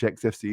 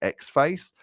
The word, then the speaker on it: Xfce: no category in which xfce is the correct choice and i once read in a forum that you're supposed to pronounce it x-face and that sent me